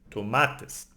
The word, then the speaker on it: tomates: it's then we have tomus tomus ends in s so again NOS no because it has an S knows we need to emphasize the second last syllable so it's tomates no tomat or tomates no would be wrong it's tomates and we have common